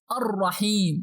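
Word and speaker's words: الرحيم: Here we only pronounce the first letter of al, that is alif, and we skip the lam to pronounce directly the sonar letter. But pay attention, we must pronounce the sonar letter after al with some pressure. Means we have to put shadda above it.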